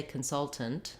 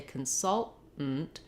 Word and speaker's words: consultant: Now, I naturally said it two different ways, and people will pronounce the T's. They will say consultant with two aspirated T's, released T's. They will also say consultant with two stopped T's, and then that just